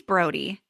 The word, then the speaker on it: Brody: So, his name's Brody, which is weird cuz it rhymes with Cody.